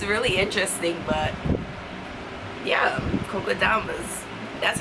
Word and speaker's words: kokedamas: But yeah, kokedamas, that's how you pronounce it.